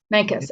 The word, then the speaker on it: Mancos: debut it in mencas how do you pronounce the town where you live mancos or micas vegas mancus okay um i'm gonna do it